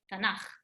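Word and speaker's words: תנך: So Tanakh is the abbreviation of Torah, Nevi'im, Ktuvim, but we never say the three of them. We just say Tanakh.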